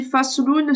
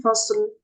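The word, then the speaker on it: فصل: Donc, soit tu dis fasloun, soit tu dis fasl. Tu t'arrêtes, fasl.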